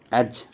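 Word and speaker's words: edge: उसके बोलते हैं एज, EDG, और ये DG हमेशा कहाँ पर आएगा, बीच में। ठीक है जी, कहाँ पर आएगा, बीच में। तो यहाँ पर जब मैं इसको प्रोनाउंस करूँगा एज, एज का मतलब क्या होता है, किनारा।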